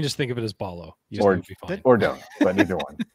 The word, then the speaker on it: Ballo: the Arizona media guide their pronunciation said it was Umar Balo so Balo so Balo